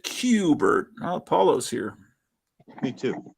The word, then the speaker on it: Kubert: kind of vertigo but it's cubert um is a it's apparently kubert but I've always pronounced it cubert oh Paulo's here me